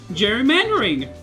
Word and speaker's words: gerrymandering: Like, the way that I hear it, it sounds like it's spelled with a J, so I wanted to go for that. It's spelled with a G, but it's one of those instances where G works as J in English.